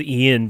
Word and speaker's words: Ion: That Ion guy, I call him Ion because his name is Ian, but it's spelled Ion, like Ion Cannon.